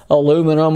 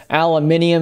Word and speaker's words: aluminium: a single piece of aluminum or aluminium if you're not from these United States of America and you say it like that?